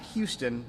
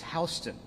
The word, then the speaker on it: Houston: this is another fun one it's not houston in georgia it's houston houston county 196.